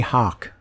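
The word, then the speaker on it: Hach: Haley Hawk. Yeah, it's pronounced Hawk. Oh, I know you've only seen it. Haley Hawk. But Haley it's Hawk.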